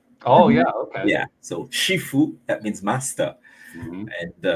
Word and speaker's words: Shifu: So Shifu, that means master, Mm-hmm. and one of the characters is named like that. Shifu.